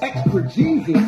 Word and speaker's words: exegesis: Exegesis? No, I said exegesis, man.